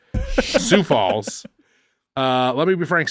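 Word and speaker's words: Sioux Falls: falls what you say for a pig right sou Falls uh let me be frank sou Falls very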